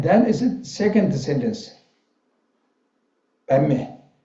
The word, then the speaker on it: Padme: Padme, Pad and Me, two syllables become one, and one sentence. So Padme, Pama and Padme is point is same meaning, but Sanskrit little bit is different of description of the pronunciation.